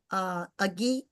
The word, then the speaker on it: Agee: You know, he was billed at, I believe your colleague at University of Dayton, Agee, am I saying his name right? AG is how you say it.